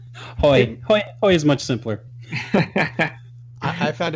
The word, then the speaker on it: Haughey: We should say our name is Haughey, and I'm like, it sounds a lot like the braying of a donkey to me. So I prefer the incorrect pronunciation in this case.